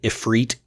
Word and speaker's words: Ifrit: Odin Ifrit and yes I know this installment pronounces it epit not going to say it but I've been saying ifred since the 90s so I'm sticking with it